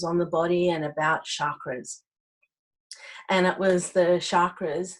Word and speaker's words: chakra: I know I should be saying chakra, but I'm so used to pronouncing it as chakra. You'll hear me say chakra throughout, but it's supposed to be chakra.